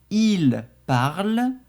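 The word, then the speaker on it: parlent: On dira il parle. Elle parle. On ne prononce pas le N et le T à la fin.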